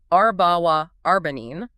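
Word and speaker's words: أربعة وأربعين: in Arabic medical training, the standard is the number 44, pronounced arbawa arbanin.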